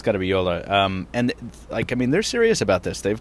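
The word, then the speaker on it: Jolla: I think it's Yola? Jola. If it's Finnish, then it's Yola. It's probably Yola, right? Yeah, because it's Finnish, right? Then it's Yola. Yeah, then it's got to be Yola.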